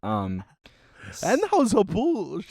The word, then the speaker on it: Anheuser-Busch: It's you have to pronounce it like that. Anheuser-Busch.